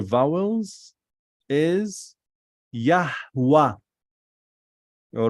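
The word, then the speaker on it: Yahweh: and then hey so the route the right pronunciation of the name of God from Torah with the vowels is yahwah all right get me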